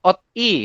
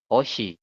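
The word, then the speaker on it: 옷이: Jadi nanti pengejaannya adalah bukan ot I. Kayak gitu kan. Harusnya ot I ya, secara tulisan. Ot I. Tapi Anda bacanya adalah Oshi. Saya ulangi, dibacanya adalah Oshi.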